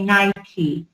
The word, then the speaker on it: Nike: We say Nike. The pronunciation is on E. Sorry, the stress is on E.